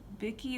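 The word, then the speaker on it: Viki: watch it it's on um racket and vicky vicky is how you pronounce it it's like an app it's also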